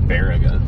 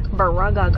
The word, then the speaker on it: Baraga: I'd like to hear the GPS pronounce it. Right? They slaughtered Baraga. Yeah. Baragaga.